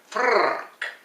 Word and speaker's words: Frrk: But how about if we said, for example, Frrk, instead of the F word? Frrk. Now, how many R's you put in there? It's difficult to say, because it depends how long you roll your R's.